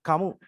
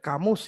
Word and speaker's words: Camus: Teman-teman, sekarang kita masuk ke tokoh Albert Camus ya, tapi ada orang bacanya Albert Camus gitu, katanya sebenarnya.